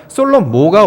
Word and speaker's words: 솔로모: 솔로몬이라는 단어 원래 없어요, 성경에. 이게 어떻게 왜 그렇게 이름이 된지는 모르겠습니다만 솔로모가 원래 발음입니다. 솔로모라고 발음을 해야 변화를 느낄 수가 있어요.